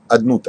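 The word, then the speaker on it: Adonai: Vous savez que le nom de Dieu ne se lit pas tel qu'on prononce. On le lit you k on le prononce on prononce adnut alud ça fait combien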